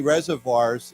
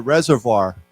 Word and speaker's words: reservoir: So Taiwan has many reservoirs, and they've been very low recently. So why don't we say this together? Reservoir. Voir. It's kind of a French pronunciation.